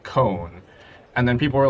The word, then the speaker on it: C1: But like when I pronounce it, it's pronounced cone, because Wait, so what is your handle? so it's and then the digit 1. But I Like pronounce that it. last part of it is cone? Yeah, so the last part is cone because it's C and then 1 is actually cone.